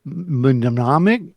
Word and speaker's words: Mnemonic: Well, next week we're going to watch Johnny Mnemonic. It's a mnemonic. The first M is silent, I believe.